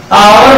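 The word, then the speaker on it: hour: अगर हम आवर की बात करें तो एस से स्टार्ट लेकिन बोलते क्या है, आवर बोलते हैं, क्या बोलते हैं, आवर।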